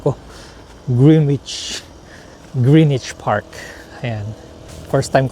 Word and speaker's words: Greenwich: Greenich o ewan ko kung paano siya i-pronounce.